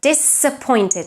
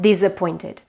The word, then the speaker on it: disappointed: Similarly, the word disappointed tends to be mispronounced as well because any word that starts with the prefix dis is pronounced with the voiceless S because the prefix dis is pronounced with S. So disappointed, not disappointed.